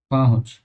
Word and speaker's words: पहुंच: Friends, इसका सही उच्चारण होगा पहुंच, ये चंद्र बिंदु आएगा।